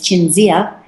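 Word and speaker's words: Cinzia: name in Italian uh my name is Cynthia is my legal name and in Italian it's chinia and I go my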